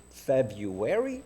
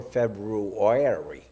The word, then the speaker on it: February: Now, is that how you really pronounce it? February or February? Right?